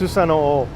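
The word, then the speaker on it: Susanoo: The god's name was Susano. I believe it's pronounced Susano-o.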